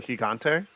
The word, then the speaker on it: Gigante: with these things um i pronounce it sweaty gigante that's the authentic but that means i